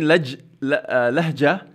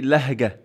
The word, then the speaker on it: لهجة: So instead of saying lahja, he say lahga.